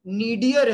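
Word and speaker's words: nadir: Actually में इसका pronunciation नीडियर है इंग्लिश में, बट हम नॉर्मली इंडिया में नादिर भी बोल देते हैं।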